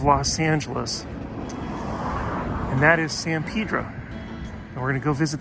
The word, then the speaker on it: San Pedro: you might be thinking why is he calling it Pedro why not Pedro mr. kurtz oh no you now to pronounce Spanish words well no I do messed them up a lot but actually this one I'm saying it the way the locals do even if you're used